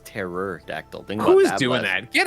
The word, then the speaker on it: pterodactyl: like that a lot pterodactyl but you spell it like without the p and it's terror dactyl thing who's doing that